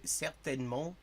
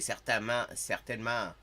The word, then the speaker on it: certainement: I mean, that is one of the differences that, like, the nasalized vowels are very different. It's like in Metropolitan French, au métropole, c'est certainement. Au Québec, c'est certainement.